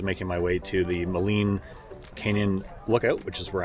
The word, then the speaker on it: Maligne: Discovered that I was saying Maligne all this time, but it's actually Maligne, as per the French-Canadian side of the language.